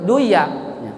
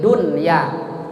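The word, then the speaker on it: دنيا: Seperti dunya, jangan mentang-mentang wah ini huruf idgham biguna nih, dibacanya dunya, duya, pid duya, jangan, pid dunya hasanah.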